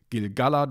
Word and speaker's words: Gil-galad: without the hyphen, then the stress would have to be only on Gil-galad as the third to last syllable. And I had trouble accepting this for a while, personally, because I just got used to Gil-galad, which sounded nice to me, and eventually the thing